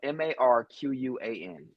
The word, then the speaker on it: Marquan: My name is Marquan. But people have been calling me Marquain, Marquine, Marcus, anything but Marquan my entire life.